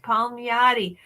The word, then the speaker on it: Palmiotti: Palmiotti. Palmiotti.